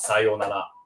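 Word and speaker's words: さようなら: daily life, for example, we would skip the u in between here and just pronounce sayonara, sayonara, sayonara, sayonara.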